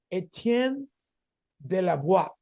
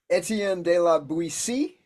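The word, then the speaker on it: Étienne de La Boétie: He has a real name, but he uses his name like Etienne de la Boétie. Is that way you pronounce it? Etienne de la Boétie.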